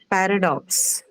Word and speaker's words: paradox: And generally, because it's a noun, you can say that it's marked on the first. Right. Paradox.